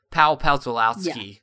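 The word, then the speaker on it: Pawlikowski: Because uh in in in Europe, they they don't pronounce W's the way we pronounce W's. Like there's no W like a W. You know what? I mean, it's pronounced with it's pronounced like a Yeah. Pow palowski or Yeah.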